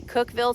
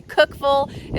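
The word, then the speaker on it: Cookeville: Now, Grower Solution is in what I would say Cookville, Tennessee, but I think the locals say Cookville is what I heard on the Grower Solution YouTube channel.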